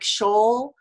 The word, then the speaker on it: Scholl: And joining me today is Ginny Lang, Lori, you're going to have to help me with this pronunciation of your name, and Marianne Osher. Scholl.